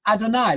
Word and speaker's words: Adonai: The I on the end there, the sound I in the Hebrew vowel, is the superlative Lord, supreme Lord. That's Adonai, Lord God.